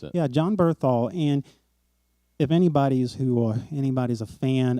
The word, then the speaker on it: Bernthal: His name is John Is it Bernthal? Bernthal, I think is the way they pronounce it. Yeah, John Bernthal.